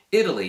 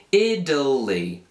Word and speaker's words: Italy: Italia in italiano e noi americani tipicamente pronunciamo questa parola come se non fosse una t ma invece una d in questa parola quindi si pronuncia proprio come Italy Italy così Italy poi